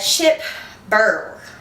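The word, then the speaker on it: Chip Bergh: say his name right a chip burr like bird it's cold in here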